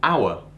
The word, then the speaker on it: hour: Par exemple, le mot hour. Hour commence par un H muet. Donc, il faut mettre un. An hour. Mais, par exemple, a house.